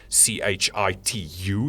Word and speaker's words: Chitu: It is CHITU is how you pronounce it.